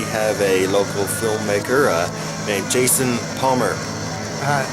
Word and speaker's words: Jayson Palmer: Yeah, my name is spelled Jayson, which is a little unusual, but Jayson Palmer, just kind of how it sounds.